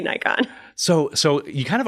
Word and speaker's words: Nikon: up about it because she didn't say nickon or something weird like that do you people people pronounce Nik wrong it's weird I'm like